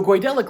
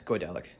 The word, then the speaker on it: Goidelic: a mental shift though coidelic languages i mispronounced coidelic is it goidelic i'm gonna check because irish yeah it's goidelic cool neato the goydelec